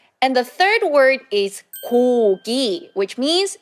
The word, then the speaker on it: 고기: So you can see two syllables has 그 sound together. So 그, 오, 고, 고. And the next syllable is 그, 이, 기, 기, 고기, 고기.